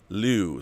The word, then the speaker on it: Liu: here and says rob the correct pronunciation of the author of the three body problem is lu think few but starting with an l liu so there's a y sound in there liu uh